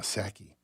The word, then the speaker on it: Psaki: Mark in Lehigh just canceled the silent P in Saki. Psak.